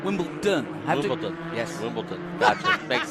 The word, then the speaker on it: Wimbledon: in Wimbledon white in Wimbleton white no not Wimbleton Wimbledon wion yes Wimbleton got makes sense that's all